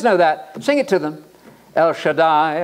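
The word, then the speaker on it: El Shaddai: sing it to them El Shai El Shai and it rhymes with Adonai that's the Lord God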